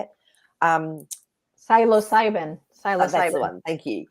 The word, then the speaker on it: psilocybin: And why have they tried to suppress, the healing aspects of the mushroom, the cybercillium, all of that? Cybercillium, is that how you say it? Psilocybin.